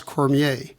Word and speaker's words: Cormier: the 59th edition of broadcasters today with Cormier did I pronounce it correct yes you did w welcome